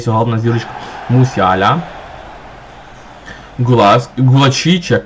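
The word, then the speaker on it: Gulácsi: головна зірочка мусяіаля Гула гулачі чи як гуласки я знаю як воін правильно читається я чув гуласі юндаган капітан дивіться тут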